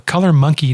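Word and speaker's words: ColorMunki: Anyway, it's called the Color Monkey display, and monkey is spelled MUNKI.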